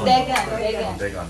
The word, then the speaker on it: Dagon: Not dragon ya, bukan dragon. This is Dagon.